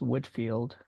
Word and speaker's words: Whitefield: This particular film is about George Whitefield, spelled Whitefield, but it's pronounced Whitfield.